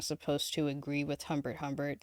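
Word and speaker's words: Humbert Humbert: People should know if they're reading the book correctly that you're not supposed to agree with Hbert Hbert.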